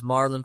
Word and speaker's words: Marlon: also get connected with you my name is Marlon m a r l n last name